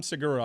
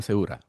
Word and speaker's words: Segura: You got Tom Seagura on your side. You You It's not pronounced. It's Sigura. No, it's Tom Seura.